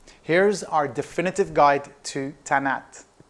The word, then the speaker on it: Tannat: your favorites list here's our definitive guide to tan app pretty simple one to pronounce tan hat that's the way it should be pronounced the